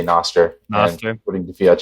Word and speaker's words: Nostr: It has Latin roots, and so if you adopt the take that it's based on the Latin word noster, which means ours, then it would probably be pronounced Nostr or Nostr.